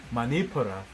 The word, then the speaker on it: Manipura: I know I didn't probably pronounce that, mate. Manipura.